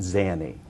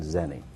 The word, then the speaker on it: zany: wrong with you sir tell me the way you say it zany z a n y yes sir any while you're pronuncia you're playing zeni am I upset sir